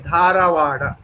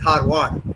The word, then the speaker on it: Dharwad: If you ask a Kannadiga to speak this, he will speak it as Dharwad. But in Hindi, this is Dharwad. Dharwad. The A after the R is also gone.